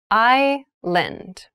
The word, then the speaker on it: island: has many rainforests thailand has many rainforests island island i lend and island is a portion of land or